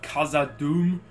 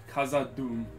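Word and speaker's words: Khazad-dûm: i made in the last video i did pronounce uh in the intro the bridge of kaza doom wrong kaza doom because that the o how the you has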